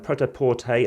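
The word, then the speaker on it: prêt-à-porter: by portal games and protaporte as it's pronounced in french as uh best as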